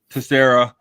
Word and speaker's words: Tessier: Find at Tessier. How do you say it? Tessera on Sleeper on Facebook.